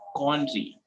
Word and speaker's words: quandary: vocabulary is coin tree so how it is pronounced quandary okay problems would be